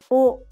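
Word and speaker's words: を: The O sound is grouped in the consonant W group, but it's pronounced the same as O in Japanese. Repeat after me. O, O, O, O.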